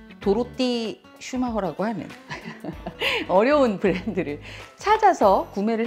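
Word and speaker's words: Dorothee Schumacher: 요거는 도로띠 슈마허.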